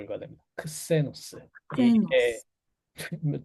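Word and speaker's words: ξένος: 제누스, 제니체, 가이스, 갸르, 제노스, 게세이, 이거는 크세노스라고 읽어야 됩니다. 크세노스.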